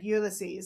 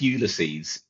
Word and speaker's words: Ulysses: Now, if you're wondering who the hell is Ulyses, fear not. He is simply Adysius, but with his name latinized and reduced by one syllable.